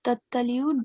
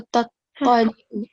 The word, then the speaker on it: تطلع: And when you say this word, tataliu, don't just say tataliu, okay? Because it has the it's mushaddad. So you have to clearly pronounce the double sound, okay? So tataliu, تطلع li'u, لأ alal af'idah.